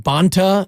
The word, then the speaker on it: Bonta: Yeah, I just did discover one other Bonte, but he pronounces his name Bonta, and it's Rob Bonta, the Attorney General of California.